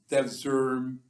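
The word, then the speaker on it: Devşirme: And this emerges out of what we call the Devzerm system, which, again, the spelling is given in key concepts, but I'll spell it Devsirme.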